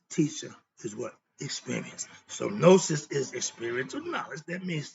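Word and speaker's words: gnosis: a concept moving on nosis is spelled GN o s i s my definition nosis is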